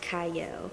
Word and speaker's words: Qiayel: it starts with a q but it is pronounced CAO I like that and I like that talk